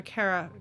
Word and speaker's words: carafe: Carafe? Okay, yeah, I wasn't sure if it was 3 syllables or 2.